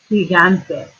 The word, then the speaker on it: gigante: Has an I, so it's pronounced the h. But look at this G here. This one has an A after it, so it's a g.